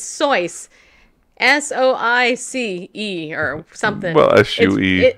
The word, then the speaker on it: Seuss: Seuss, Yes. his birthday is coming up. It's not Seuss, people. It's Seuss. Soice or something.